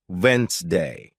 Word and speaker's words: Wednesday: For example, you might see the word Wednesday and think it's pronounced exactly as it's spelled, but listening teaches you it's actually pronounced Wensday.